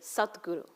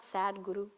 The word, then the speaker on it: satguru: this we say is satguru not not sad Guru it's spelled s a d g r you it's not sad Guru it's sat Guru this satguru is one